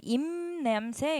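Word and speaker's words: 잎냄새: 얘는 뒤에 니은 때문에 앞에 있는 비읍이 미음으로 바뀌어요. 임남새 이렇게 발음이 되죠.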